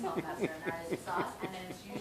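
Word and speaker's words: hovmästar: Then that's how you say it anyways, it's Hop Master, and that is the sauce, and then it's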